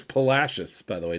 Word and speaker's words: Palacios: And it's Palacios, by the way, not Palacios.